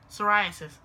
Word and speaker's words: psoriasis: Psoriasis. Sorry, I can't read. psoriasis. Because the P is silent, duh.